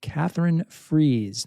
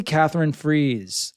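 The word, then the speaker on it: Katherine Friess: heart I'm gonna say Catherine freeze like you know freeze out sort of thing okay so new reporting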